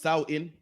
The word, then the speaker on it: Samhain: Halloween's origin dates back to the ancient Celtics festival of Samhain, pronounced Samhain, Slovakia.